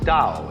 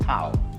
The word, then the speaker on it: Dao: call Dao that's pronounced Dao if it had an apostrophe after it it would be pronounced Tau but doubt is more